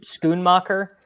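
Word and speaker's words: Schoonmaker: comes Titans we've got Luke how do you pronounce his last name Musgrave he's out no no s c h o o n scoon mocker yeah yeah he also he's like a third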